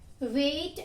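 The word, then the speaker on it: weight: वेट, आप again जब बोलेंगे वेट तो आपको किसकी साउंड नहीं आएगी, G की. तो G इज साइलेंट हियर.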